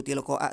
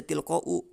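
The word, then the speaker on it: تلقاء: Nah, meskipun jadi khabar dia tetap dibacanya seperti itu. Tilqo aa saja enggak dibaca tilqou.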